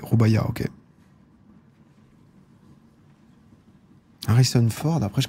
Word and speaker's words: Rubaiyat: Prononce pas le T. Rubaiyat, ok.